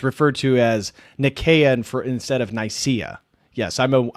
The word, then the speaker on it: Nicaea: And Nathaniel throws in 5, says, isn't Nicaea pronounced with a soft C, or are you using the Greek pronunciation? I'm using the pronunciation that refers to that particular empire. It's referred to as Nicaea instead of Nicaea.